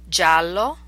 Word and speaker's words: giallo: jello spin G and here are the words pronounced a time with an English equivalent giallo yellow Giovanni young gusto just fair or correct